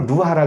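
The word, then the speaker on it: רוח: 그걸 히브리 발음으로 루하라 그러는데 성령의 바람이 불어서 날 시원하게 해 줘야 돼요.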